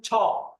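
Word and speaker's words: 차: আমরা যে চা খাই ওটা উচ্চারণ ছা, ছা, ছা। প্রথমে থাকলে বলতে হবে ছা।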